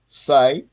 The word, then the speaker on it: psi: PSI or Phi so for every side like a psychologist I pronounce it PSI for every side if